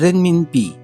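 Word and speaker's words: 人民币: रेनमिनपी, रेनमिनपी, Chinese yuan जिसको हम बोलते हैं।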